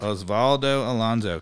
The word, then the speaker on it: Osvaldo Alonso: another defensive midfielder uh from minnesota correct correct osvaldo alonso am i pronouncing that correct osvaldo alonzo correct yeah and he actually he was a